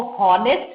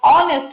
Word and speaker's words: honest: नहीं बोलते, हम इसको ऑनेस्ट बोलते हैं, ऑ से शुरू होता है, H is silent, so it becomes a vowel sound and it will take up A and an. An honest man is absolutely correct.